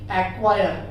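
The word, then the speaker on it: acquire: सी, वहां पर सी को साइलेंट कर दीजिएगा, प्रोनाउंसिएट मत करिएगा। जैसे कि एक्वायर, एक्नॉलेज, एक्वाइंटेंस, ये लेटर्स।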